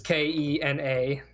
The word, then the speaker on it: Kena: Another game that looked really cool, I don't know if I'm going to mispronounce this, I think it's Kena, Bridge of Spirits. It's Kena.